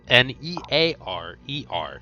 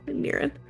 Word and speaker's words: Niren: I was gonna say it's Nearer. Nearer. No, Niren. Can you spell it again?